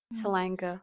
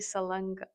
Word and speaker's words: Salanga: How do you say your last name? Salanga. Yeah. Do you guys like But I think it's actually Salanga. I don't know. I think I pronounced it a little whitewashed. So I don't know the actual I always thought